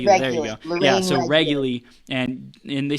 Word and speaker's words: Reguly: That's how you pronounce it? Reguly. There you go. Lorraine Reguly.